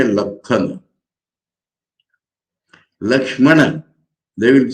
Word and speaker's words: Lakshmana: But pronouncing Lakshana, they will say Lakhana. Lakshmana, they will say Lakhana.